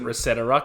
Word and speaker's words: ResetEra: Yeah, let's talk about the state of the Reset era.